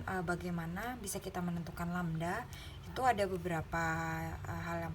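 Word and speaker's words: lambda: dengan lamda nah ini simbolnya seperti ini itu dibacanya lamda Hai dengan satuannya Hai Nah untuk panjang gelombang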